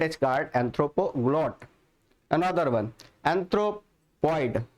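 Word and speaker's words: anthropoid: Another one एंथ्रोपॉइड, है ना, एंथ्रोपॉइड। इसको अगर आप ऐसे प्रोनाउंसिएट करोगे तो और अच्छा रहेगा कि आपने एंथ्रोप एक साल ले लिया और ऑइड वर्ड एक साल ले लिया।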